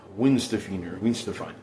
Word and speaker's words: Weihenstephan: So it's like Weihenstephan. And you remember that as that W is silent, just like with Qingdao.